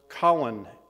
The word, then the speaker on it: Colin: Prior to World War II, Powell's first name was standardly pronounced Colin in the British and Jamaican fashion.